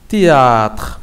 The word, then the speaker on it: théâtre: ne se prononce pas. On ne prononce pas le H. Vous avez théâtre, masrah.